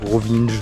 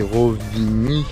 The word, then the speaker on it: Rovinj: Rovinge, je ne sais pas comment on le prononce. Normalement, le J c'est c'est comme un Y. Donc c'est Rovini mais les gens rien.